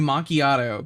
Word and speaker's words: macchiato: It's not spelled the way it's pronounced. It's like it's supposed to be macchiato.